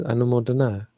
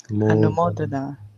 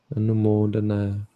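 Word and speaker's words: anumodanā: Anumodana. Because it's feminine, I think. So it's a long A. Anumodana. Okay. Anumodana. The emphasis would be on the O, though.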